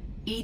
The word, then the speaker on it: EDI: airlock is a jar why are you named Ed Ed is the phonetic pronunciation of Eed that is an acronym for